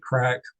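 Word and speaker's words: craic: Uh it's pronounced like crack.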